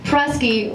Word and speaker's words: Prusky: up her name it's Lauren prusky rhymes with Husky she's the babe bring